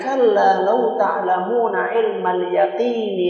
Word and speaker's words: kalla law ta'lamuna ilmal yaqin: Sebagian orang membacanya kalla law ta'lamuna ilmal yaqini la tarawunnal jahim.